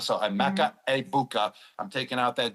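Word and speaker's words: Emeka Egbuka: I'm gonna go with I've been saying Egg Bua the whole time I was on Fox for the first two weeks, but now everyone told me the G is silent. So, a Mecha Abukah.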